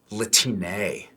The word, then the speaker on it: Latine: Latine. Latine. But we but we actually pronounce it Latiné. Like with one of those Mexican line thingies on the top.